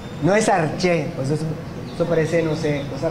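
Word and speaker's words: ἀρχή: no está mal que lo sepamos se pronuncia No es arché eso parece no sé cosas raras no no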